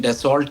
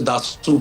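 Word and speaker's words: Dassault: तरह आपने कहा उसको वैसे तो अंग्रेजी में डेसोल्ट कहते हैं जो स्पेलिंग्स है उसके लेकिन असल में फ्रेंच में उसे दासू कहते हैं।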